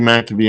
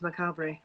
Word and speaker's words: macabre: macabre oh my god i called you mac to be i'm sorry it's okay i guess it could be that way too my cabrilli but uh yeah i kind of pronounced things a little different too because the whole canadian thing but uh the word is macabre yeah well i know